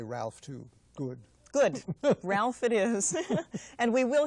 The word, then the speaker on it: Ralph: Me too, and I'm so glad that you have the courage to pronounce it Ralph and not Rafe, as so many radio announcers do.